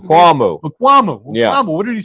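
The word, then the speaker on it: Israel Mukuamu: And what did Makmula or Israel Makmula, is that how you pronounce it? Mukuamu.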